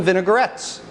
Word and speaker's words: vinaigrette: Oil and vinegar dressings, we call them vinaigrettes. V-I-N-A-I-G-R-E-T-T-E, vinaigrette. Learn how to spell that word.